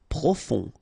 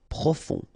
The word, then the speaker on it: profond: Profond. Final D not pronounced. O-N, on. Profond.